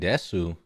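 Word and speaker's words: です: be your problem H there's no U and Desu so it's Des the U in death is silent death I want to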